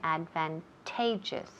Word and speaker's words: advantageous: accent is for this work and fantages okay advantageous then the third accent advantageous advantageous okay and